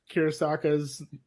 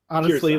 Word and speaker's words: Kurosawa: I was vaguely familiar with Kurosaka's name, but I, honestly, Kurosawa.